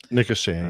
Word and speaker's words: Nicosia: Is that the way you pronounce that? Nicosia? Nicosia, yes.